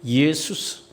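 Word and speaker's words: Ἰησοῦς: 그래서 헬라어 성경에는 예수스, 이예수스, 이에라는 말을 좀 빨리 발음합니다. 예수스 이렇게 발음하는데, 우리가 보는 이 신약 성경의 원문은 헬라어이기 때문에 원래 이름은 예수스로 기록되어 있어요.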